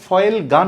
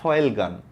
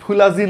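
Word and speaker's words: Feulgen: আমরা 1914 সালের একটা ঘটনা দেখছি 1914 সালে ফয়েল গান নামের একজন বিজ্ঞানী এই উচ্চারণটা কিন্তু ফয়েল গান ফয়েল গান বইয়ে এই উচ্চারণটা অনেক জায়গায় ফুলাজিন লিখা আছে এরা কিভাবে যে লিখছে আমি জানিনা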